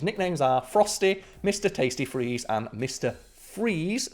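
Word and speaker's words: Friese: it's not like fries. Yeah, I'm not sure, but I think it's pronounced freeze, but spelled differently.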